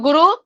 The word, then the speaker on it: गुरु: अब क्या है कि गुरु उपदेश उपदिष्ट मार्गेण, है ना, गुरु, देखिए उ साइलेंट है यहाँ पर, तो गुरु उपदिष्ट मार्गेण योगमेव समभ्यसेत,